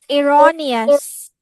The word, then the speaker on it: erroneous: also yes another um Miss what is the pronunciation of the word it's erroneous erroneous okay erroneous when something is erous it